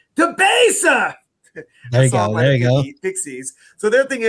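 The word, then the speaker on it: Debaser: And I know I had a beer there before called, do I say it like the song? DeBasa!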